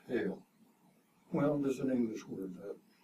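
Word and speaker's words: Heil: the old german and the word in german is literally pronounced hail well there's an english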